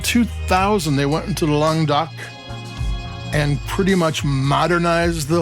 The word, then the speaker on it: Languedoc: It's from um Languedoc. I used to pronounce it Languedoc three syllables, but I was told it's two, but sounds better the other way.